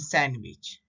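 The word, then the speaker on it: sandwich: देखो ये common words है जिसमें D है लेकिन वो हमेशा साइलेंट रहता है, जैसे वेंसडे, हैंडसम, हैंकरचिप एंड सैंडविच। अभी हम नेक्स्ट देखेंगे साइलेंट लेटर ई कब होता है।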